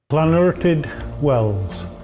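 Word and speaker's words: Llanwrtyd Wells: This is this is officially real life example of how how pronounce it. Posted 5 years ago on YouTube. Uh-huh. Float and wells.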